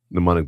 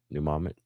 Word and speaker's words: mnemonic: Mnemonic device. God, I knew I would remember. See, it's retrieve. I had to retrieve it. That's proof. That's proof. We're not mute. How do you say it? Mnemonic.